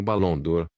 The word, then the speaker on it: Barão d'Or: Meu nome é Barão d'Or, pronuncia-se como Balão d'Or, e este é meu filho e minha nora, Ferdinand e Cherry.